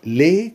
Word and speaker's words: les: ليه مش هنطق الاس بتاعتها بقى؟ ليه؟ امتى انطق الاس بتاعتها؟ لو جه بعدها حرف متحرك، لو خدناها في امثله مع بعض دلوقتي هنشوف.